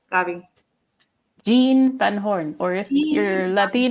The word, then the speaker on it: Gean: Gene Van Horn, or if you're Gene. Latino, a lot of Latinos call him Jimmy.